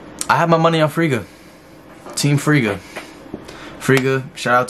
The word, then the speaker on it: Friga: Friga.